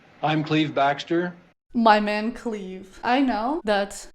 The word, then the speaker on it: Clive: But this dude is English. I checked, and his name is spelled Clive. And he says it, Cleve. I'm Cleve Baxter. Cleve.